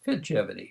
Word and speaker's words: Fitgevity: it well figevity is let's break it down into its syllables fit uh T bigevity you know we're talking about something like longevity but take the long part out and put Fitness in the front so it's fidgivity so that the implication would